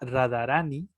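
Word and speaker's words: राधारानी: difícil en sánscrito porque se combina una consonante de DH, o sea que se tiene que pronunciar la H muy suave. Todas las vocales tienen un alargamiento, ¿no?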